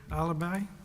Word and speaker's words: Alibhai: Alibhai. And I'm sure I mispronounced that, and I invite you to correct me. It is Alibhai, Your Honor.